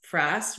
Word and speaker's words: frass: tonight is what is frass frass rhymes with grass but it is Caterpillar